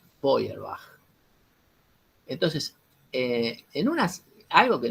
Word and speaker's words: Feuerbach: cual él critica y se escribe como es alemán no se escribe así como yo lo estoy pronunciando se escribe de huerva es decir efe y de larga a c h se diría nosotros diríamos en castellano de diamond feuer bach pero el alemán se dice boyer baja entonces en unas algo